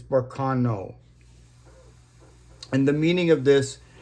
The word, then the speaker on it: Berkana: So this is Berkana. That's the more accurate way to say it. I kind of got in a bad habit of saying Berkana, but it's Berkana.